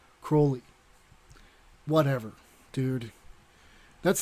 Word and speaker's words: Crowley: some somebody said it crowley rhymes with holy so it'd be like crowley whatever dude that's how